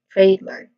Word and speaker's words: trademark: trademark. Pronunciation wise, we have first. First syllable is trade, which has a diphthong sound, A.